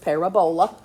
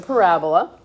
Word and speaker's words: parabola: That is not pronounced parabola. It's a parabola.